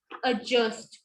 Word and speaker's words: adjust: D is silent in the spelling sequence DJ.